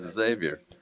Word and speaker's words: Xavier: No, you're pronouncing his name wrong. His is Javier, mine's Xavier.